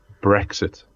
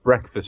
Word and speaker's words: Brexit: It is Brexit. Oh God. Not breakfast.